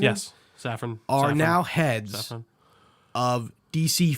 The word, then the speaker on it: Safran: Yes, Safran.